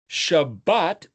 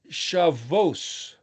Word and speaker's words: Shabbat: Spanish the B the second letter can be pronounced B or V. Just so you know, Rav or V is then rabbi. Shabbat. Sht. Shabbat could also be shavos.